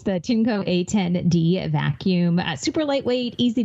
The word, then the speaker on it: Tineco: It's the Tinco A10D vacuum.